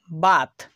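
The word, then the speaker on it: bath: বাথ এই বানানেও টিএইচ এর উচ্চারণ থ হচ্ছে।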